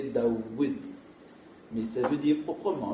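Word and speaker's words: داود: Et le personnage le plus connu qui porte ce nom, c'est David, Daoud, parce que là ça s'écrit Doud, David ça s'écrit Doud, mais après vous vocalisez Daoud.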